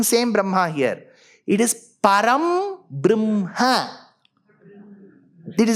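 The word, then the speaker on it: परब्रह्म: Gurur Brahma, Gurur Brahma, Gurur Vishnu, Gurur Devo, Maheshwaraha, Guruhu Sakshat, Param Brahma. Not Brahma again. Not Parabrahma.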